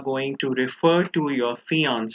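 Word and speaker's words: fiancé: fiance now please remember many people are confused and they think that these two words are pronounced differently but no fiance is a fiance whether it's a man or a woman the only difference is in writing remember the one with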